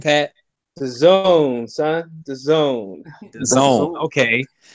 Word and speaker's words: DAZN: Pat, give me the name again, because I always mispronounce the name. What's the name, Pat? DAZN, son.